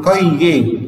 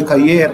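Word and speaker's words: cahier: تروس، يعني مقلمة، أن كايه؟ الإير هنا غير منطوقة، ما حدش يقول لي كايير ولا لأ، أن كايه؟ والأش ما انطقهاش، كايه؟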